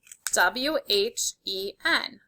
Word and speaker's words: when: W-H-E-N. Put a check here if you spelled when correctly. If not, fix it now. Remember, we have the silent H that we don't hear in this word, when.